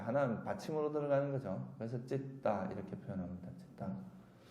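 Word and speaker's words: citta: 그리고 T는 따로 발음합니다. 쌍디읒으로. 근데 이제 T가 2개 있으니까 하나는 받침으로 들어가는 거죠. 그래서 찌따 이렇게 표현합니다.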